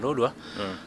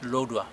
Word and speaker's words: Lodwar: them are ancestors, there were some natural fruits growing here in Lodwar, like Hedapal, one of them Hedapal, and others.